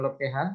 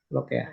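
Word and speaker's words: לוקח: Jadi ini bacanya bukan lokeha, tapi lokea ya.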